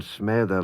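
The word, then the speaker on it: smessey: Now, the double S in smedda, like all double S's in the middle of words in Manx, is pronounced like a TH.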